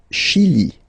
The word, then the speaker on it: Chili: Le Chili. Le Chili. Okay, remember, CH, sh.